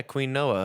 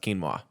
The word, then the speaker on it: quinoa: he was like yeah queen noah like those little those little like beads and i was like no that's quinoa uh it's pronounced quinoa and i just thought